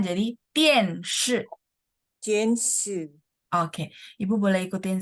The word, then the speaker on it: 电视: Televisi, 电视 oh, bacanya nadanya nada 4 semua, jadi 电视.